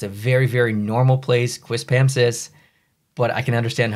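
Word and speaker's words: Quispamsis: don't know what it is and it said quis pamis that's how you pronounce it um again not weird for me at all it's a very very normal place quis pamis but I can understand how that is a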